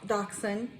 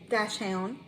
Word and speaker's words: dachshund: is a weenie dog dachshund dash hound is it i think the correct way to pronounce it is dachshund and she is a